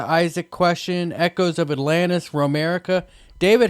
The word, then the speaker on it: Romerica: i guess right that's how you say it romerica exactly all right well i mean that's interesting